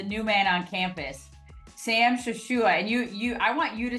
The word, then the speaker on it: Shashoua: But can you say it for everybody so we hear the correct pronunciation of your name? We can try to say it properly. Yeah, so it's Shashoua. Shashoua. Okay. Shashoua.